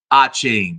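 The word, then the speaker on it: Achane: upside here so Devin achain it's a c h a n e but I believe it's pronounced a chain um of the Dolphins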